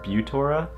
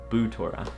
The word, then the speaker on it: Butora: Now, I used to think it was pronounced Butora, and like many of my friends also thought it was pronounced like that, but after looking on their website, it's actually pronounced Boutora.